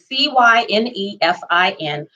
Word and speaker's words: Cynefin: It sounds like Cynefin or something like that. Okay, Cynefin, but it's pronounced Cynefin.